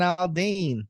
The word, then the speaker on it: Aldean: yeah, Jason Aldean.